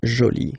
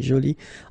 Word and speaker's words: jolie: So you can see that you put this E, but then you don't pronounce it, okay? So it's joli. So basically, the two adjectives, masculine joli and feminine joli, are pronounced the same way.